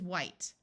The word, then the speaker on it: white: W and H together in most of the US sounds like W, but in some parts it sounds like Hw, where the H sound is pronounced before a W rather than the H being silent. So this word is white.